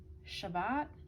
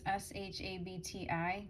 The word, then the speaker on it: shabti: And I heard the word Shabbat. I don't know if I'm saying it right. It's Shabti, because I looked it up.